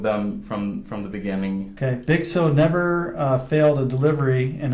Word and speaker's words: Bigso: Now, how do you pronounce the name of your company? Bigso?